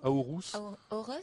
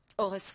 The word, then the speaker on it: Aorus: Comment on prononce Aorus? Aorus. Aorus. Et qu'est-ce que c'est qu'Aorus?